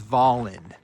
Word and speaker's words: Volin: is we look at a place like Voland, how do he pronounces it, Volen or Volin? He goes, "It's Voland."